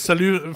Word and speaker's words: salut: But it's salut. It's not salute, right? Yeah, it's salut. Or is it salut from the Switzerland? No, it's salut French.